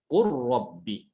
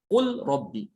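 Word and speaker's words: قل رب: Dibacanya qur rabbi ya. Bukan qul rabbi.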